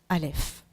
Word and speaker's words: Alef: première lettre le Alef donc on la prononce Alef sa forme c'est l'idéogramme